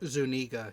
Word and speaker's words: Zuniga: Zuniga, yeah.